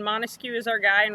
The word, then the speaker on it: Montesquieu: and we keep saying montesquieu is our guy and remember we said it's three syllables for mon to skew so there are three